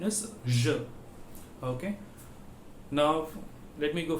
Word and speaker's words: je: The pronunciation is je.